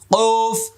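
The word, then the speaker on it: ق: কফ, কাফ, তোমার নাম কি, কইতেছে, কই দেবা, কও না, কি করো, এগুলি একসময় এরকম উচ্চারণ উস্তাদরা পড়াইতো, কিন্তু এটা মারাত্মক ভুল। এবার লক্ষ্য করুন, জিহ্বার গোড়া থেকে উচ্চারণ হবে।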